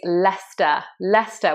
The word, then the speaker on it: Leicester: So number one is Leicester, which is actually the place I'm in now.